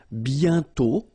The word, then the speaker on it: bientôt: And then bientôt, okay? Remember, you put this accent circonflexe, but you don't write it. You write it, but you don't pronounce it. And then the final T is not pronounced.